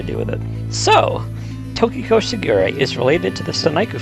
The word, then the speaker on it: Shigure: Shigure, on the other hand, is another example of this. It's comprised of Shi, Q, Rei. The Japanese pronunciations of the numbers 4, 9, and 0.